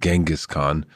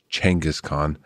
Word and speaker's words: Genghis Khan: I've most of my life said Genghis Khan, but the right pronunciation is actually Genghis Khan.